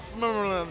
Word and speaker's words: Silmarillion: I can't pronounce it. The Silmarillion. The Silmarillion, yes.